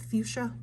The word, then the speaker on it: fuchsia: by yourself the pronoun the pronunciation for this word right here for the plant is fuchsia just so you know